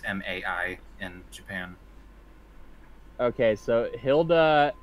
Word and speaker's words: Mai: Also, Jason, you know that if a Japanese name is spelled M-A-I, it's pronounced Mai, right? Oh, I did not know that. Yeah, the Japanese vowels are very consistent, and they are very picky about that.